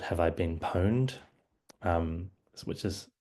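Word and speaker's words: Have I Been Pwned: So, I did uh refer to uh the website called Have I Been Poned? Um which is how you pronounce it.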